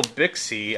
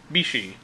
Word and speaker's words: Bixi: suani triple Beyond triple bixie I say bixie but I now know that this is actually pronounced Bishi and I think one